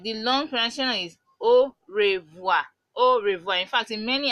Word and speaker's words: au revoir: okay so Oh wha means goodbye then the pronunciation like the long crashing is au revoir au revoir fact in many African countries what